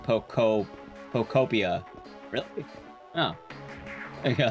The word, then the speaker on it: Pokopia: Found out it's pronounced Pokopia.